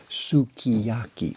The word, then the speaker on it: sukiyaki: Like for example, that food that everybody knows, the sukiyaki. We don't pronounce the u.